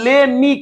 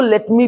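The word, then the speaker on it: let me: लेट मी कहते हैं, देखो अंग्रेज जो है लेट मी को प्रोनाउंसिएशन के तौर पर ले मी कहता है, ले मी प्ले, ले मी रीच, लेकिन हम जो है इसको लेट मी भी बोल सकते हैं।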